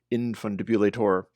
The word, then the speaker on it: Infundibulator: By the way, I require that it be pronounced Infundibulator.